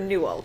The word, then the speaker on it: Newell: Newell. Am I pronouncing that correctly?